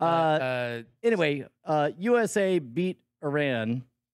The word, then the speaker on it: Iran: it but uh uh anyway uh USA beat Iran Iran Iran yeah no there was a journalist who